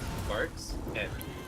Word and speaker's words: Varxent: How would we pronounce it correctly? Because I feel like I'm going to butcher it. It's Varxent.